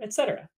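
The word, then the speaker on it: 衣: industry a service worker etc who lastly e e pronounced exactly like the number one this character means again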